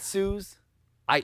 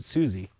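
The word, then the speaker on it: Suze: you sure it's not Suz I it's spelled s u Ze but she pronounces it Suzie okay I used to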